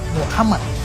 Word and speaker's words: Muhammad: terkemuka seorang yang terpuji pengucapan yang benar untuk seorang yang terpuji adalah Muhammad dalam bahasa Arab dan ini adalah kata